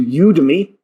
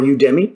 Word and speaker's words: Udemy: case that transferred into going to you to me or udemy depending on your pronunciation and buying an interior